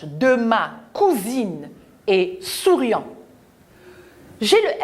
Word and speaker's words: cousine: S entre la voyelle U et la voyelle I se prononce ZE.